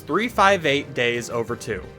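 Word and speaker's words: 358/2 Days: Kingdom Hearts 358 Days Over 2. Yes, that's how you pronounce it.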